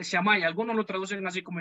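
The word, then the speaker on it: Shammai: primero era el famoso shamai ya en otros documentos ustedes van a encontrar escritos shamay con dos heces y sin h pero se pronuncia chamaya algunos lo traducen así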